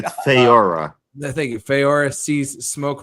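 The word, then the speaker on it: Faora: I can't even pronounce her name. Oh my It's God. Feora.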